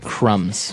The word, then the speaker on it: crumb: to remind everyone that the word crumb has a B on the end c r u m b but we don't pronounce the b we just say Crum